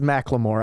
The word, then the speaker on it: Macklemore: oh yeah Macklemore's name it is Macklemore I was wrong I was like McLemore or whatever I said um so yeah I